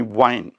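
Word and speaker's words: whine: First of all, let us see a group of words, all of them pronounced as wine. And the first word in this group is W-H-I-N-E, wine.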